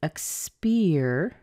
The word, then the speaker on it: experience: a fish spear so we end up with X peer I'm going to run out of room spear